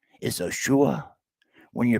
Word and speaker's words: Yeshua: Yeshua is near.